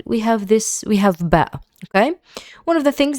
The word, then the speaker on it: ب: the the letter and below the B in below is the same pronunciation as this B.